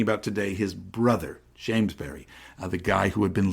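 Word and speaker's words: Beury: It's spelled B-E-U-R-Y, by the way, but always pronounced Berry, like the fruit, although, of course, in Philadelphia accent, it comes out Berry.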